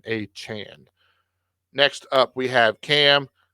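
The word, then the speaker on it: Achane: players and we'll get Devin a back at some point or aan I apologize that is the correct pronunciation aan next up we have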